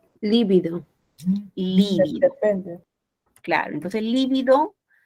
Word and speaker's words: lívido: A ver, ¿esta cómo se pronuncia? Lívido. Lívido.